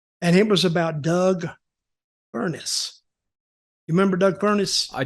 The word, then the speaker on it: Furnas: I start I start Doug fuckness no no don't say that dug furnace oh oh yes Doug